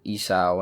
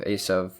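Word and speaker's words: עשו: For instance, Abraham instead of Avraham, Isaac instead of Yitzchak, Esau instead of Esav, Moses instead of Moshe, etc.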